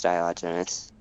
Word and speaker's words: Diogenes: bennett himself he names the character and it's diogenes not even like pronouncing it all like text i know what